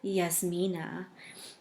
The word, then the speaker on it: Jasmine: young punk like me Jasmine oh I'm sorry he pronounced it yasmina which gave me the